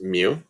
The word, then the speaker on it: mu: is with a mu it's a greek letter and it's pronounced mu and that's when we're